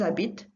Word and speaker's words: habitent: or elle plural, but the only two that you're going to pronounce are the nous and the vous. The rest of them are silent endings. They're pronounced exactly the same. Just notice that the endings are different. We'll come back to that at a later stage, but they're pronounced the same.